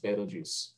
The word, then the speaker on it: Betelgeuse: you could properly pronounce it but yeah it's pronounced betelgeuse oh he said it twice watch out okay